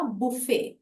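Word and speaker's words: buffet: मतलब बहुत अलग है नाउन फॉर्म जब प्रोनाउंस करते हैं तो उसमें टी साइलेंट होता है तो इसको हम स्पेलिंग में बी यू एफ एफ ई टी है पर जब हम नाउन फॉर्म का प्रयोग कर रहे हैं तो हम टी साइलेंट रखेंगे बोलेंगे नहीं तो प्रोनंसिएशन हुआ बुफे अब बुफे वो होता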